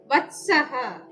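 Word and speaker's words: വത്സഃ: വത്സൻ, നമ്മൾ മലയാളത്തില് വത്സൻ എന്നാണ് പറയുന്നതെങ്കിൽ സംസ്കൃതത്തില് വത്സഹ എന്ന് പറയണം, വത്സഹ എന്ന് പറയാൻ പാടില്ല.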